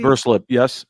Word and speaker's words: Verslip: You're looking at Will Verslip. Is that how you say it, Casey? Verslip, yes.